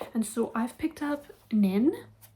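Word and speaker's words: Pnin: And so I've picked up Nin. I think it's just Nin, you don't pronounce the P, and this is about a professor.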